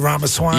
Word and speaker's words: Ramaswamy: Ramaswamy.